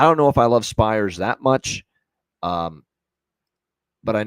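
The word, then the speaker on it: Spiers: Carson Spears here for the Spires, I believe, actually is how you say it.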